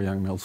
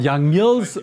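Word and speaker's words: Yang–Mills: if just as finite as any goals for young male's theory not proven to be divergent in higher drops was not pronounced young males his divergence in six dimensions well young mills young mills is uh yes it's divergent above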